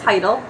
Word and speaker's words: Hyttel: right - she said you know how to say my name it's vital how you don't it's